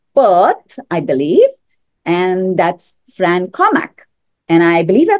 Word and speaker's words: Fran Cormack: dialing in from Perth, I believe, and that's Fran Cormack. And I believe I pronounced your name correctly.